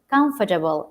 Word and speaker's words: comfortable: pronunciation should be correct stress of the words if it is um vegetable it's vegetable not vegetable if it is comfortable it's comfortable not comfortable you know this is